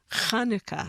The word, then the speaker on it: Chanukah: i looked it up the ch was developed as far as i understood so that people could pronounce it properly chanukah okay there you go